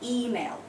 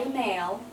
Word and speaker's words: email: influence I'm happy so so it's an email mhm not aail it's an email and